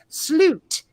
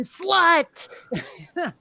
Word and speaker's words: slut: speaking country is that the way to say the end, like at the end of a movie, you know, they'll put the end up there, is slut, but it's spelled slut.